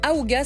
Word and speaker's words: Ahooga: Alors, Aouga, ça s'écrit A-H-O-O-G-A.